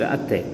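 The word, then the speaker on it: ಅತ್ತೆ: We pronounced atte.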